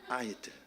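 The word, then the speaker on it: idol: 1 음절의 엑센트가 있습니다. 아이들이에요. 아이들.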